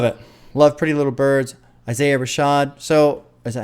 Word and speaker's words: Isaiah Rashad: little birds love it love pretty little birds Isaiah Rashad so is that how you pronounces yes I said it right okay Isaiah Rashad Sylvia demo I want to do it that